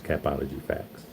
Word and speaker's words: Capology Factz: If you want to know how to pronounce it, it's capology facts cuz people struggle with saying my name.